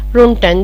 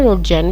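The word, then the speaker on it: Röntgen: और विल्मन रोन्टेन ये जो बनाए थे, ये इसको जो है रोन्टेन भी बोल सकते हैं, रोटजैन भी होगा ये प्रोनाउंसिएशन।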